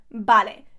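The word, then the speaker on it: vale: you must have heard ballet a lot we use it all the time ballet notice yes it is spelled with a V but remember that these always sound as a B in Spanish okay so okay okay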